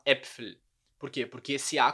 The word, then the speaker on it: Äpfel: Esse A com o trema. A gente fala die Äpfel, não die Apfel, tá? A gente fala Äpfel.